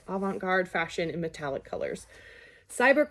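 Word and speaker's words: avant-garde: science fiction and of includes Advent Avent guard that doesn't sound like I'm saying it right Avant that's it Avant guard fashion in metallic colors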